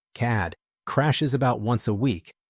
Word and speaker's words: CAD: The CAD system, she pronounced it as a word, CAD, crashes about once a week, but you learn to work around it.